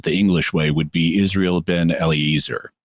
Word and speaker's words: Israel ben Eliezer: His actual name was, to pronounce it the English way, would be Israel ben Eliezer.